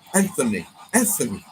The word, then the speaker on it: Anthony: And Anthony. With a th.